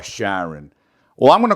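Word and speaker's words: Carron: named Karen Phillips but it's spelled c a r r o n and it's a man so apparently it's not Karen it's shiron or Sharon well I'm going to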